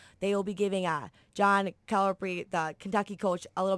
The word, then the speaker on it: Calipari: Calipari. It's like calamari.